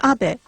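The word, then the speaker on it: Abe: House my name is AB but in the United States some people mistakenly pronounce my name as ape but that is not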